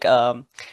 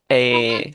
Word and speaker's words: Joaquín: So it's like Joaquín, Joaquin. Joaquín.